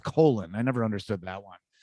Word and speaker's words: Colin: well first of all his name is spelled colin but he insists being called colon i never understood that